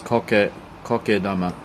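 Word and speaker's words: 苔玉: Moss ball here and the way to pronounce MOS ball in Japanese is co Kama the correct way over here we have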